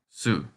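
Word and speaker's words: す: This kana looks like a thread and needle, and if you pronounce so, S-E-W, the way it looks, then you have the pronunciation for this kana, su.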